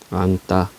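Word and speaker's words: 앉다: 7종성 적용해서 비읍으로 발음한다는 얘기입니다 그러면 얘는 어떻게 발음하면 돼요 넉 얘는 안따 얘는 앞에 거 받아놓으면 되지 그지 얇다 얘는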